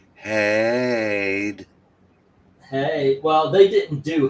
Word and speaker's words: Hyde: That's actually it's pronounced Hyde.